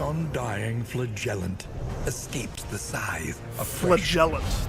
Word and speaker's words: flagellant: flagellant escapes the SI flagellant that's how you say it so it's like a j instead of a g flagellant you got to hit the ellent 100% damage while on